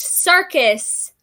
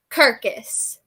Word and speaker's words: circus: You pronounced circus, Kirkus.